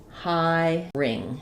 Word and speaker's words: hiring: in this case is instead of thinking of it as hiring, you might think of it as high ring because it's still going to sound oops not ring I'm writing I'm thinking about the I and in right so ring. So if I use this approach hiring hiring I'm going to end up with the right sounding word.